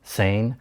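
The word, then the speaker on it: SAEN: We pronounce the acronym SAN.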